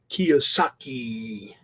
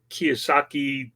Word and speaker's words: Kiyosaki: so I could say his name Kiyosaki like he's a Japanese drink what books did I